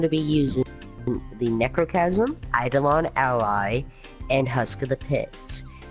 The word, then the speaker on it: Eidolon Ally: And what I thought of doing was grabbing the Necrochasm, Aldeon Ally. Is that how you say it? Eidolon Ally.